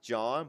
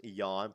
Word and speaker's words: Jan: This is John, but we all know it's Jan pronounced correctly.